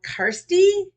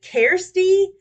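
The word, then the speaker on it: Karste: so it's k-a-r-s-t-e and you said it's pronounced with a long e at the end so karsty if that's how it's pronounced or if it is it Kirsty I'm not sure if the a is long and the E is long I'm not sure so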